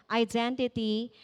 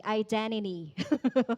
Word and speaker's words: identity: And my identity crisis. I di daw pwede i-pronounce ang T, identity.